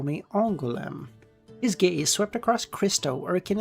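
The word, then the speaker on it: Angoulême: It is pronounced as You may pronounce You may call me Angulm.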